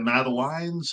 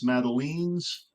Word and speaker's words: madeleine: Is it Madeleines? Madeleines? I always said Madeline's, but I could be totally wrong.